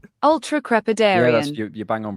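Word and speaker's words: ultracrepidarian: Ultra crepidarian. Yeah, that's your bang on pronunciation wise.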